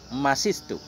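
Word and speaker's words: مسست: Bagaimana cara baca masistu? Bi fathil mim, mas. Wa kasri sinil ula, dan kasrah sin yang pertama, masistu. Wa sukunis saniyah, dan dengan sukun sin yang kedua, masis. Masistu.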